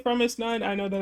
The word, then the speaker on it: fromis_9: I say Promise9. I know that it's more like Promise9, but characters and I don't know, like letters and stuff with Korean.